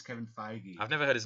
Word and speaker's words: Feige: that how you pronounce it? Yeah. I always said Feige. Or Phage. My mum said that the other night, and I was like, "Mum, it's Kevin Feige."